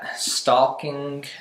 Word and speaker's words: stalking: the oh why not you don't pronounce the AL but then it's just